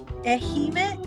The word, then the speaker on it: Ehime: Ehime? Like Hime, like princess? But with an E in front, yes. Okay. That's like the princess who's boring, like Ehime.